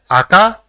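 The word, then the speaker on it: あか: So, it will be pronounced as aka, which means red.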